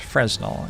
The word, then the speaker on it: Fresnel: Fresnel is pronounced Fresnel. It's a French surname.